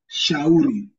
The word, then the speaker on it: shauri: Shuka or shauri. Shauri. Shauri. So, like the same way you pronounce the letter SH in the word sheep, that's the same way it's pronounced in Swahili.